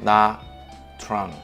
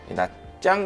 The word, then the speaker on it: Nha Trang: 야짱 같은 경우에는 나트랑이라고 우리가 보통 부르잖아요. 현지 발음으로는 야짱이에요. T-R 요 발음이 짜, 짜 이렇게 돼요. 근데 우리가 그냥 읽으면 나트랑, 외국 사람들은 나트랑이라고 많이 읽고 현지 분들은 나짱이라고 해요.